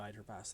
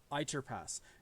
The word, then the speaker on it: Either Pass: called ier pass and I will spell that for you because spelling is wonky uh e i t h e r p a SS said e it's it spells it spells as either pass it is ier